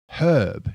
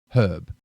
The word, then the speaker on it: herb: Herb. Now, the H ends at the start. It's not silent. Herb. If you say herb, you're sounding like an American.